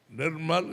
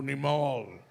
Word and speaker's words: Nirmal: அப்போ நியூசிலாண்ட் போகும்போது அங்கே வெள்ளைக்காரங்க நியூசிலாண்டர்ஸுக்கு வந்து they couldn't pronounce. அவங்களுடைய ஒக்காபுலரியில் ஆர் கிடையாது. மங்க, டமால். So you're killing my name. Nirmal is a nice name. No, Nimal.